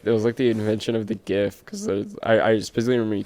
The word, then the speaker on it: GIF: the dude who made them, he's like, it's GIF, but it's pronounced in the English language GIF.